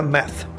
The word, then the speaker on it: math: resbalarte mat mat mat Cómo diferenciar esta pronunciación de matemáticas que matemáticas es con th entonces esa th en esa palabra suena math matth este es más seco mat mat número 32 collar Cómo